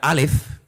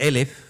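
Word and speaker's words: אלף: o la letra, perdón, la letra alef, que se puede también pronunciar por elf, que significa 1000.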